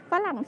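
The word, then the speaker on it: ฝรั่ง: And French, French in Thai is phalang said. So we just like use the word, the first syllable phalang, to call foreigners or white people in general.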